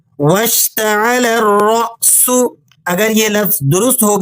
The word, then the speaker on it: وَاشْتَعَلَ الرَّأْسُ: الف مدہ نہیں ہے۔ صحیح طریقہ یہ ہے کہ لام کو مشدد را سے ملائیں اور پھر را کو اگلے حمزہ کے ساتھ جھٹکے کے ساتھ پڑھیں۔ درست تلفظ یوں ہوگا وَاشْتَعَلَ الرَّأْسُ، وَاشْتَعَلَ الرَّأْسُ۔ اگر یہ لفظ درست